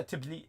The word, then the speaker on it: Tbilisi: Oh yeah, Tbilisi. Okay, pronounce that again.